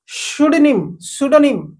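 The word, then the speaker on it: pseudonym: देखंतु तो देखंतु एठी पी को पुनी साइलेंट करबा आको होची सुडोनिम ओके सुडोनिम पढ़ा जाय सुडोनिम एठी शु एस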